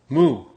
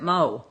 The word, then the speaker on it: Mu: medal champion only your last name will be mo spelled mu mu i think they pronounced it moe a thing moo yeah yeah but that